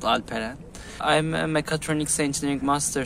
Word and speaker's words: Alperen: People pronounce it as Alperen, but it's called Alperen.